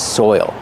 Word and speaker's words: soil: But this is soil. Pronunciation. Soil. You have the oi sound followed by the dark L. Soil. There's an extra sound there.